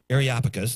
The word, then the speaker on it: Areopagus: Areopagus, there we go.